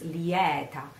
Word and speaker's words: lieta: South they say it much correct which is Liette yet on the other way on the other